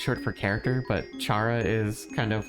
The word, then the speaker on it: Chara: Am I saying that right? Yeah, Chara. Chara. Because it's short for... Technically, it would be Kara, Kara. but it's short because it's short for character, but Chara is kind of like an accepted pronunciation.